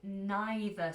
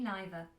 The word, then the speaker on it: neither: Me neither. Okay? And just so you know, in American English, they pronounce it neither and either. Whereas in British English, we pronounce it either or neither.